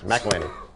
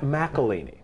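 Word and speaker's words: McIlhenney: McElhenney. Just let it roll off the tongue. It's an Alpine pronunciation. McElhenney.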